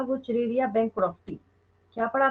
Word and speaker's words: Wuchereria: तो इसका positive agent है, लिख लीजिए, डब्ल्यू यू, जैसी प्रोनाउंसिएशन है वैसी स्पेलिंग है, सुनने में भली थोड़ा ऑकवर्ड लगे बट आसान है, वैसी कोई दिक्कत नहीं है। CHERERIA, वो चिरेरिया हो गया, एंड बैंक्रॉफ्टी।